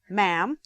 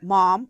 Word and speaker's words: ma'am: of madam it is pronounced ma'am or possibly mom or mum in some accents and is a term